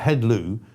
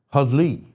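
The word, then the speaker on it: Heddlu: So I think actually it looks like hedlw, but I think you pronounce it hudley.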